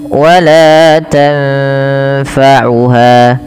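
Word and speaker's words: لَا تَنفَعُهَا: Kemudian wala tanfa'uha, tanfa sukun bertemu fa, samarkan nunnya ketemu dengan huruf fa, maka tanfa, tanfa tidak dijelaskan sebagaimana izhar, tidak dibaca wala tanfa'uha. Kadang-kadang sering terlupa, dia membacanya dengan izhar, tidak disamarkan, padahal dia harus didengungkan ya.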